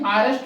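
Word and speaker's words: Amherst: ने रैंड और एमस्ट, रैंड तथा एमस्ट, देखो उसके प्रोनाउंसिएशन में बड़ा अंतर है, कहीं आरेस्ट भी दिया है, कहीं एमस्ट भी दिया है, ध्यान रखेंगे आप।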